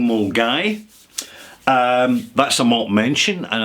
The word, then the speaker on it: Milngavie: It's a very pleasant place, actually, in the north of Glasgow called Mulgai, except when you look at it and pronounce it phonetically, it's pronounced Mulgavy, right?